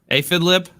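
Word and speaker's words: Aphidlip: you say your name aphid lip aphid lip it's like like a like a bug an a lip yeah like the Lips of an apid I gotta all right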